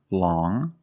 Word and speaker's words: long: has five different pronunciations first we see long with the sound which is a nasal sound long but then you have